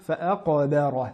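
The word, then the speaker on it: فَأَقْبَرَهُ: Le verset numéro 21, fa'aqabara, fa'a, bien mettre en évidence la qalqala du qaf, car la lettre est en plein milieu du mot, elle est assez difficile à mettre en valeur. Fa'aqabara, et bien prononcer la lettre ba amincie. Fa'aqabara, et non ba.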